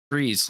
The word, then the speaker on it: Freeze: say your last name freeze like you're trying to free something like boom that's what I've been